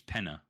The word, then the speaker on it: Penna: his last name is penna i thought you said it was p oh i'm looking it up just you pronounce it i got it so it's penny making yeah like penne pasta yeah they have three